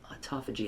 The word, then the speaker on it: autophagy: Um and uh autophagy autophagy is how it's pronounced.